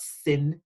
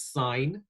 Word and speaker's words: sine: triangle the three are sine again emphasizing the a there it's not sin it's sine we also have cosine